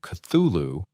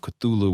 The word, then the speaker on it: Cthulhu: the record and say that the first part of the name, the C, is pronounced sort of like a cough, and the last part is, pronounced different than how it's spelled as well.